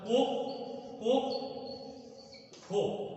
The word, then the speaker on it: কক্ষ: যেমন আরেকটা শব্দ উদাহরণ দেই, যেমন একটা উদাহরণ কক্ষ, এই শব্দটা যদিও আমরা লিখেছি কক্ষ, মূলত শব্দটার উচ্চারণ হবে কক্ষ, উচ্চারণটা হবে এইভাবে লিখতে হবে, উচ্চারণটা কোক কোক খো।